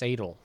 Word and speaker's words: S8: The other Gumiho's what Skull or S8 I think it's pronounced Sadel.